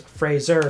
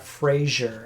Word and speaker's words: Fraser: his name is pronounced his last name's Fraser not Frasier as people like to